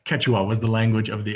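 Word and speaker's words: Quechua: was called K kachua I did this with Google pronunciation and it kept telling me I was doing wrong Keta Keta I was over pronouncing the O ketua was the language of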